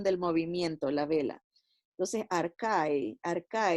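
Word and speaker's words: ἀρχή: aquí la palabra principio es la palabra griega parque o arkaitz se pronuncia arca y que quiere decir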